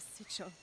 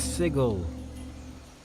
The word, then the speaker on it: sigil: The sigil. The sigil of the first apoctasis. I was out. The pharmacists took it. I always pronounce that as sigil. I was so wrong all this time.